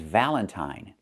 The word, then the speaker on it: valentine: The first word is valentine. So, we see it's pronounced with I, the long I sound.